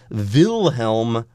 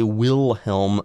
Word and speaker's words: Wilhelm: whoa two above uh the W becomes a V and that's why yes we're saying that this particular Church was built by Duke Wilhelm v okay if you're